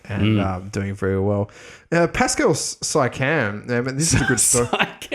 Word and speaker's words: Siakam: Pascal Siakam, this is a good story. Siakam. Siakam. I thought the IA was silent. Siakam. The IA was silent.